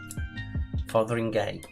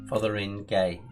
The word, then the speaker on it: Fotheringhay: Fotheringhay, it's pronounced. Well, Fotheringhay, it's pronounced.